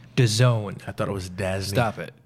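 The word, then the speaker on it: DAZN: now it's spelled Daz n what it's actually pronounced 'da zone I thought it was dead stop it just stop it what I first thought it was dasn't but it's actually disowned like you're into zone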